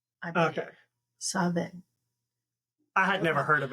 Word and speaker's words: Samhain: So MH is pronounced as V. So it would actually be Samhain. Okay. Samhain.